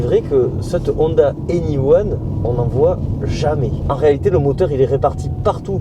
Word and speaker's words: 1: coup voilà maintenant je sais que ça se prononce one pourquoi pas il y